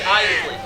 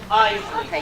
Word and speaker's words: Iseli: It's Iseli. Not Isel, not Iseli. Iseli. 2 syllables, Iseli.